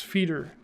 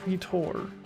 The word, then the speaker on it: feeder: Let's kill some feeder bats, which we learned earlier with Google that you pronounce it as feeder, not feetor.